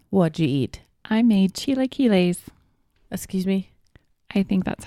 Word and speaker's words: chilaquiles: I made chilaquiles. Excuse me? I think that's how you pronounce it.